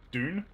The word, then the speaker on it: Dune: movie has come out you could go with dude or junior strictly correct dune dune i'm trying to think